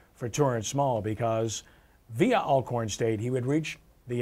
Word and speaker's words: Alcorn: That's Alcorn. You pronounced it right.